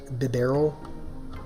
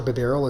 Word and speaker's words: Bibarel: I'm pretty sure Bibarel is how you pronounce that.